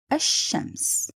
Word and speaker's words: الشمس: Should I pronounce the lam or not pronounce it? So the key word for you here is to see the shadda. Once you see the shadda above the letter, you immediately know this is lam shamsiya. In this case, I'm gonna write it but not to pronounce. So again, it will be pronounced as الشمس. But if you look at